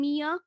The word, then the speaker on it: mia: like the girl's name mia miyamoja you can also just say mia mia is acceptable so 100 mia or miyamoto to be very specific 100.